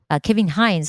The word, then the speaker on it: Kevin Hines: Kevin Hines, that's how he pronounced his name.